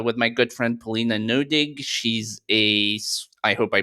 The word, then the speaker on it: Neuding: just live with it uh but it's it's noing but but your verion yeah uh you're uh